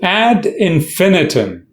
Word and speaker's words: ad infinitum: but expressing bit so add infinum pronunciation you stress on Fe add infinum add noan no what